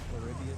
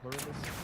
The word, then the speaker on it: Pluribus: I keep forgetting how to pronounce it. Pluribius or something like that. Pluribus.